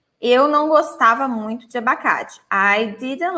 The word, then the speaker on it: abacate: So the stress syllable is the K.